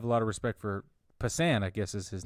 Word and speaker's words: Passan: major league B yeah Jeff Passan thinks I didn't know that's how you pronounce his name cool yeah I read